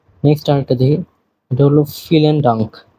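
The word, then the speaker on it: vielen Dank: Next আরেকটা দেখি, এটা হলো ফিলেন ডাঙ্ক। বিয়ের উচ্চারণ এফ এর মতো, এটাকে ফাও বলা হয়।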